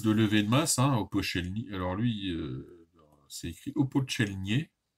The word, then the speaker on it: Opolchenie: donc les milices de levée de masse, hein, Opochelny. Alors lui, c'est écrit Opochelnier, donc on prononce Opochelny.